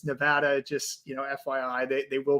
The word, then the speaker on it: Nevada: So Philadelphia, if you're out east and you've always called it Nevada, it's Nevada.